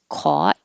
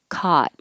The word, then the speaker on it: caught: always be it affectionate caught i know there's different dialectal differences and more east coast will have a rounded lips with an awe caught but for more general american english that most people are using it's just ah caught that's it now these